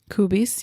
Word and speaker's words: Kubis: So the first ever position of a flight attendant belonged to a German man named Heinrich Kubis. Kubis. Am I pronouncing that okay? Kubis, yeah.